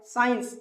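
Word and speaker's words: science: साइलेंट कर देते हैं जैसा की ये लिखा है साइंस अब साइंस में क्या साइलेंट है सी साइलेंट है और साइंस का मतलब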